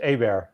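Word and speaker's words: Hébert: wait wait wait wait I was gonna ask anybody else to pronounce John Herbert yeah it's a bear yeah yeah wow that's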